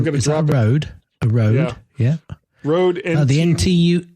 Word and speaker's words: Rode: It's like, but it says Rode. Oh, okay. Sorry. The thing that surprised Rode me. As in toad? Yes. Yes. They rhyme. It rhymes.